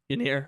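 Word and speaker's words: Yennier Cano: I can't pronounce his first name, but Cano. Yanir. I that's what I thought it was, but I didn't want to say it and butcher it. Yeah, Yanir Cano has been outstanding.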